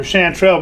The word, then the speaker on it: chanterelle: They're chanterelle mushrooms. I knew I was pronouncing it wrong, but I was, anyways.